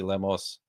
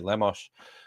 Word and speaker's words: Lemos: there to see Tracy lamos I never this is the fun thing about SPL is learning is learning how everyone's names are pronounced I always just said Tracy Lemos uh it's Tracy lamos uh she's done some